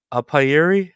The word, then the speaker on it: apiary: uh and you are the owner of Noah's upayeri is that how we pronounce it yeah correct it's a term used